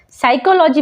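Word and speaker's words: psychology: पर है साइक logy साइकोलॉजी में भी अगर आप ध्यान दें तो एस के पहले पी आया है तो पी हो जाएगा साइलेंट तो पढ़ते हैं साइकोलॉजी चलिए अब जानते हैं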